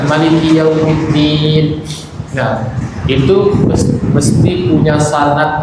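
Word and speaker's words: مَلِكِ: Mungkin ibu-ibu sudah pernah dengar juga bacaan Maliki Yaumiddin gitu. Jadi mimnya dipendekkan. Mimnya dipendekkan. Maliki Yaumiddin.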